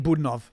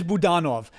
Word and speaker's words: Budanov: Oh, you're saying Budanov. Ah, that's true. It is Budanov. I saw it said the other day Budanov on TV, and I was like, I keep forgetting to pronounce it that way. I see what you're saying. Yeah. I keep saying Budanov. I find every word in Ukrainian has an accent in the place that I never suspect.